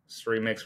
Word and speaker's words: Srimix: Yeah, so the idea is that Srimix rhymes with remix.